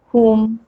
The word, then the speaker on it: whom: But there are some WH words in which W is silent. And which are these words? Who, whom, whose, whoever. Okay, again, these are WH, but we are not pronouncing W, but instead we are pronouncing H.